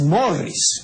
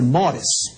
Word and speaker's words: Morris: dice la gente no no es Morris así nosotros lo pronunciamos a la criolla pero la pronunciación y consulten la transcripción fonética de El webster que es un diccionario muy autorizado la transcripción es esa no el mores mores bien Comencemos preguntándonos Por